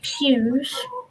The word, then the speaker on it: piws: And it's called the Pews Scheme, but it's spelt with PIWS, and it means purple in Welsh.